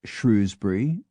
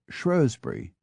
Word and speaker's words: Shrewsbury: Shrewsbury can be Shrewsbury or Shrewsbury.